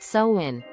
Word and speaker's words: Samhain: Samhain, pronounced Samhain, is probably the most well-known holiday in the Wiccan calendar.